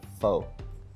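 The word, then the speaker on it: phở: of course rare beef a Vietnamese person would pronounce foe as F but if you don't speak Vietnamese correctly just stick to calling it foe that to me would be the correct answer the restaurant opened in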